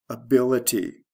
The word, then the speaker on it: ability: Adjective or verb, able, ability. The stress shift is from the first to second syllable.